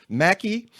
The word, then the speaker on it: Mackey: That's Mary Mackey. Um, or is it, you do pronounce it Mackey, right?